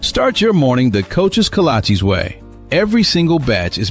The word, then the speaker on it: kolache: When you walk into Coach's Kolaches, you might be a little overwhelmed by all the great choices, but do not be overwhelmed by how to say it.